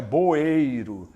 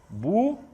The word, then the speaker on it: bueiro: as pessoas vão e falam bueiro não é boeiro é bueiro bueiro muito bem hoje nós